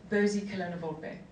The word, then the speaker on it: Bozicolona Volpe: That's why you couldn't pronounce my last name, which, by the way, is pronounced Bozicolona Volpe, which is a mouthful.